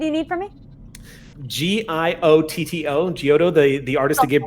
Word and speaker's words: Giotto: spoilers oh right it's okay this is okay pronunciation did you need for me g-i-o-t-t-o geoto the the artist that gave birth to the